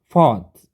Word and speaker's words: fought: Fought, ini juga UGH-nya nggak usah dibaca.